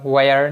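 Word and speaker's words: where: এখন হোয়াট যা বা হোয়াট যা যাহা, ওয়েন যখন তখন, ওয়ার যেথায় যেখানে, ওয়াই যে কারণে। এটা উচ্চারণ কিন্তু হোয়াই না, হোয়াট না, হোয়েন না, হোয়ার না, হোয়াট, ওয়েন, ওয়ার।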